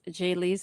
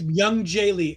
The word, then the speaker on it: Myung-Jae Lee: I guess Jay Lee's how you say his name. I don't want to say it wrong. I feel bad. I think it's Myung-Jae Lee, MYUN dash JAE, Myung-Jae Lee.